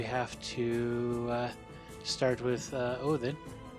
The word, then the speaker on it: Odin: say uh odin uh but in uh old old norse uh back in the viking age they would have been pronounced o thin um with that th turning into a a d in later grammatical iterations then ends up being used mostly in english as odin i prefer the older